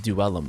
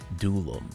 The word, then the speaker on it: Duellum: And yes, it is pronounced Duelum apparently and not Dulum.